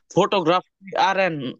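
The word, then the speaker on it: fotografieren: করেন তাহলে একদম শেষেরটা আচ্ছা এখানে ফটোগ্রাফ কি ফটোগ্রাফি আর এন এটা মানে উচ্চারণটা ফটোগ্রাফি আর এন ফটোগ্রাফি আরএন ফটোগ্রাফি আর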